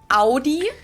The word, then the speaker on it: Audi: one is audi most americans that i know pronounce it like i just said say audi in german we say audi i say audi and there's actually a funny